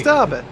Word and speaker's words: Derby: You still don't pronounce it right. There's no A in Derby. Check me. No, it's Derby. It's a British town and we say it right.